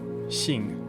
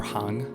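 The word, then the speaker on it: 行: So you could say, for example, this character, Xing or Hang, it's the same character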